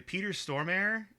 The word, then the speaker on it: Peter Stormare: And then, I don't know if I'm pronouncing this correctly. Peter Stormare.